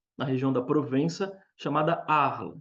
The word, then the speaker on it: Arles: região da Provença chamada arla se escreve se diz arles né se escreve arles e eu sou francesado a gente fala a arla e ali ele produz